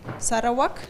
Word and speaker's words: Sarawak: is today a wildlife officer in the Sarawak Sara walk do I say it correctly yes forestry Corporation